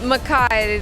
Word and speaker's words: McKay: Hi, you're Nellie McKay? Oops. I'm Nellie Mackay, to say the Scottish pronunciation.